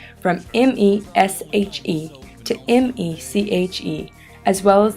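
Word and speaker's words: Meshe: In the midst of this migration, my family decided to change the spelling of our last name from M-E-S-H-E to M-E-C-H-E, as well as the pronunciation from Mesh to.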